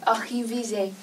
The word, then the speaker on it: réviser: Je vais réviser. Réviser. 注意发音啊 Réviser.